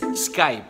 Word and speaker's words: Skype: Skype. 你有用 Skype 吗？所以还有人用 Skype 吗？ Why do people always have to stress that P? P 啦。懂读的。It's Skype.